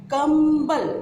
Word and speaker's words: कंबल: कंबल। यहाँ म का उच्चारण आ रहा है और ब कौन से वर्ग में है?